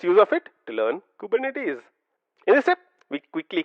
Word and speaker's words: Kubernetes: interesting fact is the fact that kubernetes is pronounced as coup bur net is kubernetes kubernetes say that a few times practice this